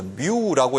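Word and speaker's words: μ: 이게 뭘 의미하냐면 그리스 문자에서 뮤라고 읽는 겁니다. 뮤.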